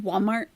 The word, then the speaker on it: Walmart: smooth they they do it's pronounced Walmart Walmart there's no l Walmart that's true fatty